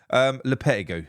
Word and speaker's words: Lopetegui: Finally, if it's Julian Lopetegui, I don't think I've said his name wrong once here. Lopetegui, there you go.